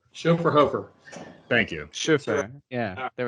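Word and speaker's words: Schöfferhofer: Chauffeur Hofer.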